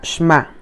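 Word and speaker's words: שמע: Se pronuncia Shema y a menudo se traduce como escuchar.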